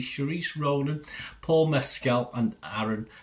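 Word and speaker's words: Saoirse: stars uh oh I never know how to pronounce this one Sharice Ronin is it Sharice s a o i r s e Sharice Ronin Paul mcal and Aaron Pierre yeah it's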